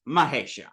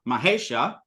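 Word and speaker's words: Maheśa: yeah equals exactly so just like we have Mah Isa mahesha what sounds better Maha let me even try to say it as nice as I can Maha or mahesa your mouth does less work there's a certain concision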